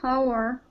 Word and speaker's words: hour: They should be there in the next hour. Our H is not pronounced.